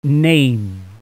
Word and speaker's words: name: Collect the letters of the word name in the proper order. Remember, the E is silent.